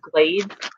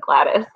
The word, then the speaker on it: Gladys: and I kept reading the woman's name as Glade. And she started laughing, and I was like, I don't know how to say that name. And she said it was Gladys.